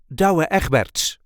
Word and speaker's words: Douwe Egberts: the Dutch Coffee Company da eberts this is the way we say dabert da there is a light emphasis on the first part of the first and second name da da the da